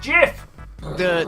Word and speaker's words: GIF: the clip of the gift Jeff thing actually pronounced jiff the cheesy designers I wish and this might